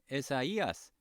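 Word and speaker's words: Ἠσαΐας: 에사이아스, 이거 나올 때마다 이제 말씀드리는데 이렇게 두 개가 찍힌 가는 독일어의 우물라우트가 아니고 원래 I가 중모음이잖아요. 알파, 이오타음 중모음인데 이거를 구별을 해서 에사, 이아스 이렇게 발음을 나눠서 하라는 디에레시스라는 그 부호입니다.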